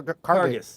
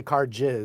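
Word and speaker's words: Karges: say your last name car carcass carcass right I didn't want to say car jizz well that's kind of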